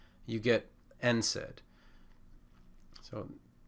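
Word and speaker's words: NSAID: the D you get n said so it's pronounced for the first letter n and then we just say the word said if you really want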